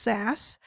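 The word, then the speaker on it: SaaS: how you're able to use it so it's pronounced SAS and I used to say that I was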